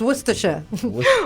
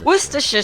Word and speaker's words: Worcestershire: meals of worcestershire sauce i can never pronounce this worcestershire what's the shirt you know you know most people just call it lee and parents yes it's spelt woodchestershire yeah yeah it's worcestershire worcestershire sauce there you go interestingly